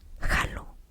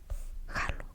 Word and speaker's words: jalo: Anyways, so they're gonna ask you that, and in order to respond, you are going to respond with J A L O. Jalo.